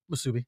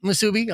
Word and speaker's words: musubi: Msubi. Msubi.